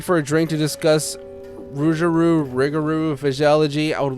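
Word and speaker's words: rougarou: Okay, it is Rugaroo. I was trying to bounce around that um pronunciation.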